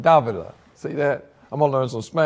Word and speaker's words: Davila: And also, Dovila. How do you say it? Davila.